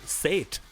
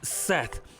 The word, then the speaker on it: Seth: name i said last name sait i said say it sate no no it's seth first i have to